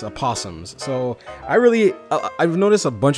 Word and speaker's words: Aposimz: book, because at first I was calling it Aposimz, because I thought it was pronounced Aposimz, but it's Aposimz.